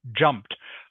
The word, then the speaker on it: jumped: not jumped not jumped but jumped almost like it has a t on the end instead of e d jumped jumped can you